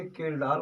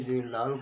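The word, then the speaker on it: Kjeldahl: हैं, कभी तो इसे केल्डाल के नाम से जाना जाता है, कभी इसे जेल्डाल के नाम से लिखा जाता है। केल्डाल का मतलब हुआ कि जब जे को साइलेंट रखा जाए, जेल्डाल का मतलब हुआ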